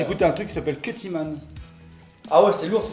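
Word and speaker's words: Kutiman: Ça s'écrit K-U-T-I-M-A-N. Cuttyman, voilà, c'est très très bien, je vous conseille de l'écouter.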